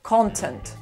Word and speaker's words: content: все что его наполняя прошу заметить что английское слово имеет ударение на первый слог контент а в русском языке